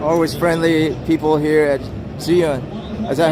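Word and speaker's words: Zhiyun: But how you say it correctly? In Chinese, it sounds like 智云.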